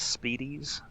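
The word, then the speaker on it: Spiedies: I am actually the pronunciation is Speedies. Speedies.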